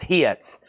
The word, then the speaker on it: HYTS: hard rock, I guess that's pronounced hits.